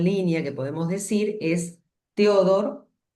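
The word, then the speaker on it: Theodor: Y el segundo en línea que podemos decir es Teodor, si como suena con H intercalada después de la T.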